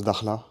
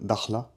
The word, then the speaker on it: Dakhla: Et de Casablanca, on a repris un vol pour Dakhla. Dakhla, mais ça se prononce Dakhla en marocain, Dakhla.